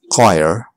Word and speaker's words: choir: But on small occasions or rare occasions, it's not pronounced. The H is silent. Choir, echo, ghost.